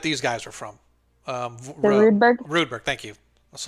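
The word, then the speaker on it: Roodberg: for the clan too rudeberg r-o-o-d-b-e-r-g no i've spelled it like rude as in how rude that's fine i'll remember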